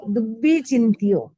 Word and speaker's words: दुब्बी चिंत्यो: इच्छामि ठायुं काउसगम परिकम्युम आलोयम जो में देवस्यो अय्यारो कौ कायो वायो मानस्यो उसुत्तो उमग्गो अकप्पो अकरणिज्जो दुज्जाओ दुब्बी चिंत्यो, डबल बा है, दुब्बी चिंत्यो अणायारो अणायारो अनिच्छी अब्बो